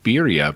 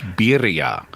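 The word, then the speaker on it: birra: talking about bira but you weren't pronouncing it right it's bira it's got an AR not just an r in it be go ahead Edgar get out you what what Edgar wants to give us what Bea Bea yeah oh I didn't pronounce it I didn't roll my you got to Trill the r there well which is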